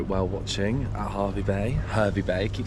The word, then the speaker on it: Hervey Bay: Hervey Bay.